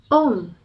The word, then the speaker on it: Om: cramps the vocal cord om is pronounced like the word home but without the H to inone this magical